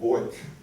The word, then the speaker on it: Beug: And he finally said, well, if you were in Germany, they'd call it Beug.